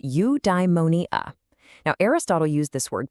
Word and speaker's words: eudaimonia: Okay, I've got a new word for you, eudaimonia. It's pronounced you-dai-mo-ni-a.